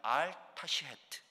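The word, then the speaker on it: אל תשחת: 이것을 이제 히브리어로 발음하면 알타시헤트 이런 한 문장인데 그 뜻이 뭐냐면요.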